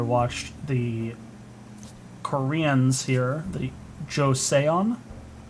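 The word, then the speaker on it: Joseon: beta that I watched the Koreans here the josean josean that's how you pronounce that um they could get it was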